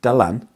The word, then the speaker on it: Dylan: names as well as choosing dalan yes or whoever you pronounce it is open to debate but i've always said the land all my life but as well as